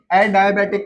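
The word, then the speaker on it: adiabatic: आइए, the next process is एडायाबेटिक process. हाँ भाई, एडायाबेटिक प्रोसेस या एडियाबेटिक प्रोसेस, विच वन? दोनों प्रोनाउंसिएशन सही है, ठीक है, डिपेंड कर रहा है कौन से एक्सेंट में बोल रहे हो।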